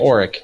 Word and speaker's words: Auric: Yeah, And- Auric is how you pronounce it, Auric.